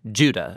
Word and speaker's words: Judah: The letter of Jude, or more accurately, Judah, according to the pronunciation of his name, both in Greek and in Hebrew.